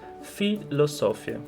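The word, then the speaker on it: פילוסופיה: Um exemplo disso é a palavra filosofia, que é uma palavra que começa com a letra P, porém ela é pronunciada com Fe. Então nós dizemos filosofia, porque é uma palavra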